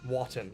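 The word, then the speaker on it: Wotton: Watton, it rhymed. It's spelled like cotton but with a W.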